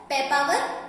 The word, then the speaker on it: Papaver: Economic uses की बात करें अगर हम, ornamental plants, as a ornamental plant हम देखते हैं तो हमारे पास पेपावर रोहियस है, ठीक है।